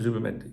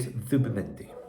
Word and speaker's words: Zubimendi: Listen, I know you lay people pronounce it Zubimendi. I live in Spain. I've asked all my Spanish workmen and followers of football here. They said Zubimendi.